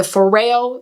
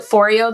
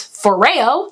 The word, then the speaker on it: Foreo: on the bear the foreo bear is what i should say i called it foreo the whole time because i didn't know how to pronounce it whoops but it's foreo and i really love